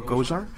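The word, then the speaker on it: Gosar: Just think about Ghostbusters.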